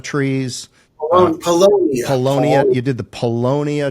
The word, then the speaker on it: Paulownia: Uh you you did the Palo Palana trees. Palonia.